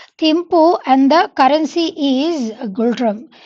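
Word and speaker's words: Ngultrum: భూటాన్ యొక్క capital and currency వచ్చేసి ఏమున్నాయండి, Those are Thimphu and the currency is Gultram. Here N is silent and Gultram.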